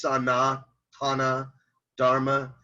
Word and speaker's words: Sanatana Dharma: Maybe it's pronounced Sanatana Dharma, and they speak so fast when they say it to me that it sounds like Santana Dharma.